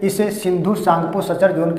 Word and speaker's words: सांगपो: जो भ्रंश मिलेगा सिंधु सांगपो सांगपो में टी साइलेंट होता है इसलिए टी होगा सिंधु सांपो सचर जोन यहां पर